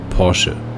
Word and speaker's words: Porsche: this ultimaker is called porsche this is the only way to say it like like if you want to say it's like a true german i would say porsche very some say porsche